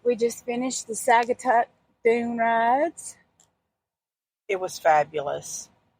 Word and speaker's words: Saugatuck: Well, you said what I said, but I think it's Saugatuck. Remember, because he kind of broke it down for us. Saga. And then Tuck.